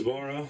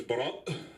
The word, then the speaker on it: Barat: My name is Barat. But don't worry, I'm not going to make anybody pronounce it, even though it's very straightforward. It's B-A-R-A with a mini orgasm at the end.